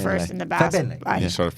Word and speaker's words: Fagbenle: Yeah, and also like you just can't Fagbenle. pause too long before saying the Fagbenle. first and the last. Fagbenle. You sort of The G is silent.